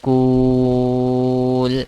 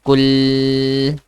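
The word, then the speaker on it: قل: Ku. Not cool. I'm not saying cool. I'm saying kul.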